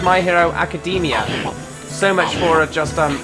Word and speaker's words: My Hero Academia: on my hero academia at first i thought it was um pronounced my hero academy apparently it's not it's my hero academia so much for just